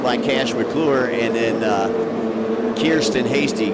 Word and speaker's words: Kirsten: Yeah, that's Jax Rowe out of Ottawa, Tennessee, followed by Cash McClure, and then Kirsten Hasty, because Kier rhymes with beer.